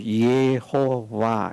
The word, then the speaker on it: 여호와: 정확하게는 예라고 표현을 해야 됩니다. 예. 우리가 예수님 하잖아요. 예수님. 그 예를 말하듯이 예수님을 예로 말하듯이 하나님의 이름을 그런 식으로 예호와 이렇게 발음을 해야 됩니다.